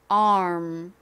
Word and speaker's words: arm: 요렇게 발음하시면 안 되고요 R 소리를 내면서 빠르게 입을음 모양으로 바꿔 주셔야 돼요 ARM 한 번만 더 해